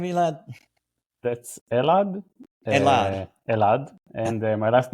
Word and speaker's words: Elad: do you say your last name elad that's elad elad and my last name is